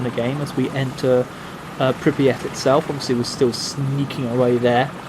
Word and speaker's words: Pripyat: It's probably Pripyat rather than Pripyat, which is what everybody thinks it is, but that's irrelevant.